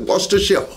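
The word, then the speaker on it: Worcestershire: the proportions use kind of up to you wash the sheer sauce pronounce it wash the shell horseradish straight from horses i i don't know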